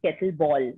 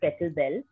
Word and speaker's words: kettlebell: Even today, when I talk about the sport to people, most of them land up pronouncing it as kettleball instead of kettlebell.